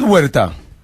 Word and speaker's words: Huerta: but it's not huerta. Huerta. What is it then? The H is silent.